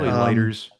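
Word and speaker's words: Leiters: I I I don't know how he pronounces it. L E I T er. Yeah. Lighters.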